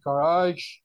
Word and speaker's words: garage: I open the doors of my garage to discover a. You are still pronouncing a jaw. It is ja, ja, garage.